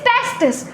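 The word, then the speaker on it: testis: तो बेटा जब हम लोग पेयर की बात करते हैं कि लाइक हम दो टेस्टीज की बात कर रहे हैं तो स्पेलिंग में हो जाता है TESTES, दिस इज टेस्टीज। लेकिन अगर हम सिंगल टेस्टिस की बात करें तो इट इज टेस्टिस, जिसमें आई आ जाता है।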